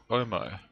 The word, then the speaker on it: Owmo: We pronounce it Owmo, like the washing powder.